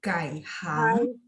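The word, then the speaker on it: 改行: 顾问， 15, hangnya 2. Jadi kai hang.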